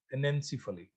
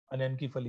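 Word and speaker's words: anencephaly: उस केस को बोलते हैं अपना एनेंसीफली, अनेंकीफली भी बोलते हैं। सी है, कोई इसे डिफरेंटली प्रोनाउंस करता है, ANENCYPHALLY।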